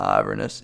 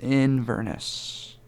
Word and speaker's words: Inverness: it the or whoa I've been mispronouncing it whoops it's the Inverness I think not iverness Inverness whoops so the Inverness